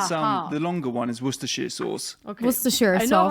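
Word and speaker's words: Worcestershire: said, "Why is there shire in it if you don't say the shire?"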